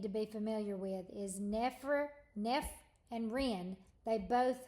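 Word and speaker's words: nephr: the Greek word root the Greek root nef which is NE e p HR and the Latin root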